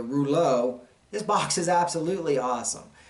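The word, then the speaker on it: Reuleaux: Thanks everybody for, I know I was saying Relux and all that, and there's a reason why behind that too. But the Rouleau, this box is absolutely awesome.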